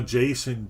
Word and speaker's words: JSON: we got some raw json data text hello jason or i guess as it's more properly pronounced json i've always called it json people call it json we can see